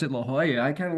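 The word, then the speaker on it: La Jolla: And one of them down south near San Diego is La Hoya. It's spelled L A space J O L L A. And in Spanish, the J is pronounced sometimes like an H.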